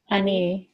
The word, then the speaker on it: אני: Oh, Ani.